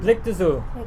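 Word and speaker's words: Beylikdüzü: Blake Dizu. Blake Dizu. Blikdüzü.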